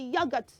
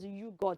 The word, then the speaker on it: yogurt: yogurt yogurt yogurt good so don't say you it's yogurt can we say it again yogurt good so who wants to take some yogurt this afternoon yeah I like some yogurt with strawberry toppings and B of Flakes and granola hey you love that yummy right so that word is not you God so please anywhere you